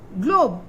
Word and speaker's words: globe: Gl, o, Globe. Here again the E is silent. O is taking its name and it is globe.